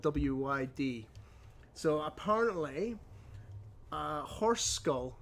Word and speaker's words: Lwyd: you want to confirm this, but it's I'll pronounce this wrong, but the tradition of Mari Lwyd. It's Lwyd.